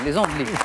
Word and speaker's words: Les Andelys: Les Andelys. Oh oui, les Andelys, les Andelys. YS, mais qui ne se prononce pas à la fin, les Andelys, bravo.